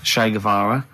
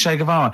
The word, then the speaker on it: Che Guevara: Che is like shake and his his surname is like guitar. Right. Che Guevara.